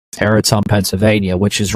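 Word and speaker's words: Tarentum: Terrium. Uh that's how you pronounce it, I believe. Teratum, Pennsylvania, which is right on the outskirts of uh downtown Pittsburgh.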